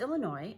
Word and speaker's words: Illinois: yes my name is Illinois and I need one airline ticket - um well Illinois mm-hmm no no the S is silent as the son said